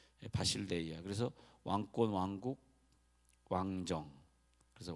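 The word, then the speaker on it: βασιλεία: 근데 영원한 천국이라 할 때 천국이라는 단어를 바실레이아, 엘 발음인데 람다라고 저 헬라어 적혀있는데 바실레이아.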